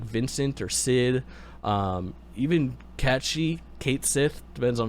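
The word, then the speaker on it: Cait Sith: in wait people can announce it cat catchy cat she is the correct way to pronounce it it's c-a-i-t-s-i-t-h i believe and i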